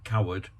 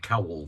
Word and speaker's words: Coward: He appeared with Noel Coward. By the way, I did pronounce Noel Coward as Noel Cowell the other day.